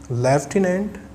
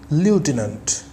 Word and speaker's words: lieutenant: Friends, the correct pronunciation of the word is both lieutenant and lieutenant.